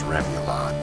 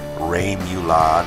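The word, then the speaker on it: rémoulade: So while I'm mixing these together, let's practice how to pronounce Remoulade. Now I say it as Remoulade, but some people say Remoulade, and of course French people say it in a way that I'm unable to say it because I'm not French.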